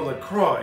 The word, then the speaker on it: LaCroix: colada but made with coconut lacroix or lacroix if you really want to say it like it's supposed to be called anyway it's a